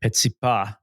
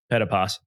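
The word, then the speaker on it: Petitpas: I think next presenter on stage one was Marcel, in French, Petipas. Petipas, if you're just going to read it in the English name, but he told me I said it right using the French that I grew up understanding, and so I figured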